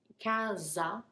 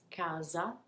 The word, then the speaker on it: casa: Casa, that S is pronounced more like a Z. It's a single S, casa.